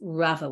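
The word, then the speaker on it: רבא: at the end and pronounced rava with a vet as opposed to a bet but it's very confusing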